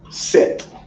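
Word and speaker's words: sèt: All right, and in Creole, 7 is set, like the sunset.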